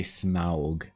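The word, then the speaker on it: Smaug: kind of more like smog sorry smog yeah I forgot if you say smog people know what you're talking about you have to say smog this is this is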